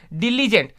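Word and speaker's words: diligent: डिलीजेंट, Delhi के जो एजेंट है, देखो दिल्ली के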